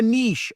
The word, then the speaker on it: niche: number two is the niche or the niche or the N however you want to say it I say Niche because it rhymes with niches or riches or in the niches